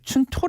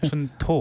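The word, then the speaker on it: 春闘: 일본도 이제 투가 있는데 걔네들은 이거를 춘토 그래요 발음을 춘토 근데 춘가 있는데이 토를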